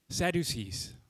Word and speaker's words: Sadducees: Sadducees.